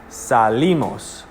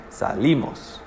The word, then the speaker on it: salimos: no accent mark but you still say the accent on the eye salimos so salimos or salimos are both wrong because the accent falls on the eye salimos okay anyone remember what